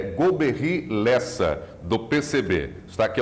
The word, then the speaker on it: Golbery: Brasil se pronuncia esse nome eu e a pronúncia que tem usado é golbery é em francês seria o veículo é lenta